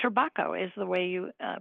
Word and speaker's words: Trabocco: And yes, the pronunciation is correct. Turbakco is the way you uh pronounce it.